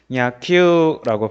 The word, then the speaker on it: 野球: 우쿠스츠누 후무유루의 우단음인 유 뒤에 우가 오면은 야큐우라고 읽지 않고 큐를 두 박자로 읽어줘요.